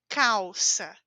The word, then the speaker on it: calça: Então eu digo papel, Brasil, calça, certo? Letra L ao final ou letra L sem vogal, eu pronuncio como U.